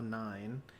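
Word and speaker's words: IX: I've heard that so I used to pronounce that device 9 but or device X but I've heard X ex and now nine I'm going to trust Aaron's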